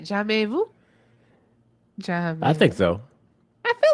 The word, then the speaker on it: jamais vu: Jamais vu? I think so. I feel like I'm pronouncing because MAIS in French is May. It's no S sound at the end. It's May.